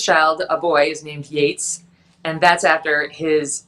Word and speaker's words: Yates: Yates. No, but okay. it's funny because our priest said to him, how do you spell it? You know, is it Yeats? And he said, no, it's Yates.